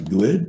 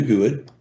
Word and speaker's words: GUID: They have a GUID, which I always pronounce good, but if you want to call it good, that's okay with me.